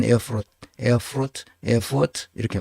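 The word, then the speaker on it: Erfurt: 발음하는데에 에트라 독일은 쓰지만 발음할 때 에어프 에어프 에어포트 이렇게 발음합니다 노동 연방 대법원이 거기에 있습니다 그러니까 통일되고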